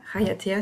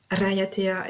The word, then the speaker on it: Raiatea: Raiatea, si je le dis à la française. Raiatea, et si je le dis plus à la polynésienne, même si je sais que je ne le prononce pas complètement correctement.